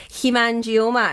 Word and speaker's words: hemangioma: Hemangioma. And nobody could pronounce that, but it used to be very, very rare.